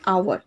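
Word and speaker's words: hour: We waited for over, over dash আওয়ার, right?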